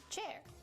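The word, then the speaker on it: Qier: Hi, I'm Cher Wang spelled Q I E R pronounced chair.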